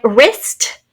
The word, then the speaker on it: wrist: beginning of a word sometimes spelled with a silent w so silent w and then an r wrong w r o n g right wrist w r i s